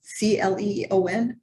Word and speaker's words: Cleon: 1915 um I guess they call it clian c-l-e-o-n is how you say it stay Leon it's